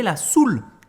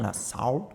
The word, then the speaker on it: soul: choses après vous avez la soul attention ne pas dire la salle parce que là ça hein hein c'est pas la prononciation donc en français on dit la soul ici j'ai deux artistes